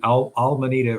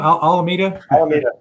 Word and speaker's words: Alameda: 2017 to open an Arbitrage Outlet called almond almanita research I can't even say that darn word how do you say it Tim Alameda Alameda research which is supposed to be an